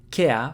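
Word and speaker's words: ケア: The Japanese a to replace the English r. Kea for care.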